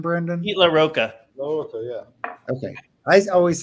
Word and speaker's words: LaRocca: Now, how do you pronounce his name, Brendan? Pete LaRocca.